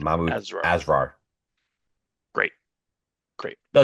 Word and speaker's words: Asrar: That's how you pronounce the last name, Mahmoud Mahmoud Azra. Asrar.